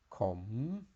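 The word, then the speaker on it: ขม: meditating lady boy it also has a question tone com and this means a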